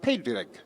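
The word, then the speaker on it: Padraig: parades today now in ireland patrick is is pronounced pedrick spelled p-a-d-r-a-i-g so in ireland it's usually referred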